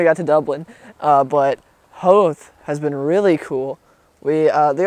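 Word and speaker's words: Howth: But anyways, we're in Hoth right now. Which is spelled like Hoth, but with a W. H-O-W-T-H. And it is really pretty.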